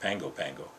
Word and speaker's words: Pago Pago: They suggested going to Pago Pago, pronounced Pango Pango, located on the island of